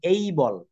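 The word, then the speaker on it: able: ই এটা কিন্তু আমেরিকান বা ব্রিটিশ ইংরেজিতে এটার উচ্চারণ হবে এই বলল এই বলল যেমন আমরা এবেল বলি এবেল মানে সক্ষম কিন্তু এটা এবেল বলা যাবে না যখন আপনি বিদেশে যাবেন ফরেন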